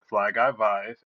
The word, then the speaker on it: Fly Guy Vive: It's Fly Guy Vive. And Vive is actually short for Survivor.